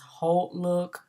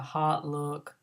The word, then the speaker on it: Hautelook: look on our and some people have heard pronounced Holt look but I prefer to call that hot look because everything is hot so you come to